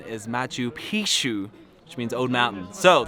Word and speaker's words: Machu Picchu: actually learned yesterday on our walking tour that Mathieu Picchu means old penis the correct pronunciation is Mathieu pshoo which means old mountain so don't go around